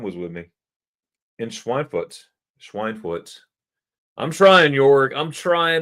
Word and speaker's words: Schweinfurt: Schweinfurt. I'm trying, York. I'm trying to say it right. Schweinfurt, not pig.